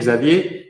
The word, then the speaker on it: Xavier: My mom is Swiss and gave me a French name, Xavier, and my father is Spanish, so Javier with a J. So you can pronounce each way. Either It's or, either or. And are you in Saint-Imier today?